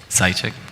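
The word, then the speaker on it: Seitchik: forgive me, I'm trying to pronounce it. I'm going to spell your last name. S-E-I-T-C-H-I-K? Sychik.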